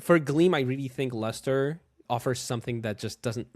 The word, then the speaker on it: Lustre: It's luster. Yes, luster.